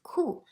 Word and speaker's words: 裤: And then the other side indicate the sound of it, 裤. So together pronounced as 裤, 裤子, 裤子.